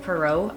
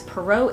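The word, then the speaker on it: Poirot: And again, we're following Detective Perau, I do believe is how you say his name.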